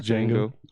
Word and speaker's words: Django: It's just Django. Just Django.